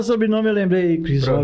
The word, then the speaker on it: Crisrober: E agradecer também a presença do senhor Cris Robert dos Santos. Olha, até o sobrenome eu lembrei, hein? Acertou. Até o sobrenome eu lembrei, Cris Robert. Pronúncia perfeita.